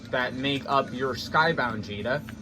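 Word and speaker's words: Djeeta: It's pronounced Gbfa, but it's spelled D-J-E-E-T-A. But it's pronounced Gbfa. I actually thought it was Cheetah like the first 7 or 8 times I heard it.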